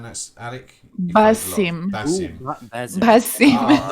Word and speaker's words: Basim: Is it Tazim? Am I right in saying that's Alec? Basim.